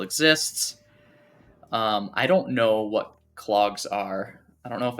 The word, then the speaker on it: klog: I believe it's pronounced clog, just for the record.